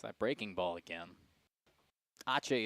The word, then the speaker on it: ache: Ache is not ace in Spanish. Dominic just likes to say it. If you look at the word and like you pronounced it, pronounced it maybe. The CE sometimes makes that ch sound.